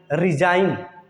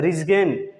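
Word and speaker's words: resign: जी silent, ए से पहले आया जी हमेशा साइलेंट होता है। जैसे डिजाइन, क्या बोलेंगे इसको? डिजाइन, रिजाइन, साइन, कंपगेन, लेकिन लोग इसको बोलते हैं कंपगेन, इसको बोलते हैं सिगेन, इसको बोलते हैं रिजगेन, इसको बोलते हैं डिजगेन।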